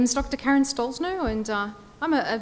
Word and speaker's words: Stollznow: Uh Karen Stallsno. Hi everyone. My name is Dr. Karen Stalsno and uh I'm a a linguist and a researcher and uh an investigator of paranormal and pseudocientific claims.